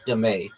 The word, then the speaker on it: dame: Also known as demay.